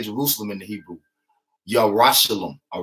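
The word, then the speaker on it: ירושלים: Yerushalayim, all right?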